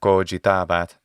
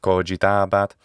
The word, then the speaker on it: cogitabat: One of the biggest reasons is that a word like this, cogitabat, in the classical pronunciation, cogitabat in the ecclesiastical pronunciation, well, by the time